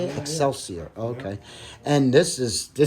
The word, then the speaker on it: Excelsior: Excelsior.